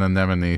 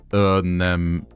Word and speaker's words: anemone: Many an anemone sees an enemy anemone. And please note that it is pronounced anemone. Anemone.